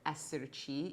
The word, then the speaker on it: esserci: And they decided to shorten this name, of course, to SRC, which actually sounds like the word esserci, E-S-S-E-R-C-I, which is a verb in Italian, which means to be here, to be in a place.